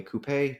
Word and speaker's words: coupe: Ah, my fun fact is that there's a type of vehicle called a coupe and or a coupe, depending on how you pronounce it.